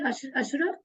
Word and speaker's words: عشرة: Okay, so you mean 10 onwards, it should be Ashra?